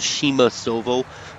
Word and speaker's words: Przemasowo: my more favorite Maps it is it's called Shima Silvo but it's spelled prz DMA s o wo so just